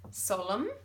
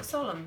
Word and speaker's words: solemn: you can hear t solemn means it's very serious and you can't hear the end so solemn so any silent however